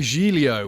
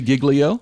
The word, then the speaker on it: Giglio: You are wanting to refer, Carl Giglio, which I think would be a more accurate pronunciation, but his actual name is It's